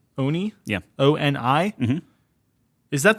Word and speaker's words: Oni: I probably mispronounced this. The Oni? Oni? Oni?